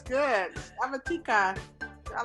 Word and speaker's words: tica: would be males, and ticas. Did I pronounce it right, tica? That's yeah, you pronounce it pretty well.